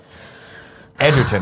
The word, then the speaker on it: Egerton: Edgerton is how it's pronounced, says Spaceman 01.